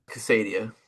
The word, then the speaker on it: Casadia: Casadio.